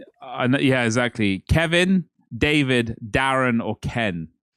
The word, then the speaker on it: Darren: that I usually say Darren, but that's a very English thing. I don't think Americans do. Yeah, they they definitely would do that. And it is actually Darren Karen. It rhymes and it Yeah.